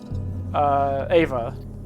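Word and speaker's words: Éabha: I know Shaban, and I know, Ava. Like E-A-B-A.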